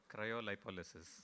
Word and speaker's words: cryolipolysis: live say it cryolipolysis there is actually a far cleaner pronunciation which I'm going to have the gentleman tell you cryolipolysis yeah that's the one so basically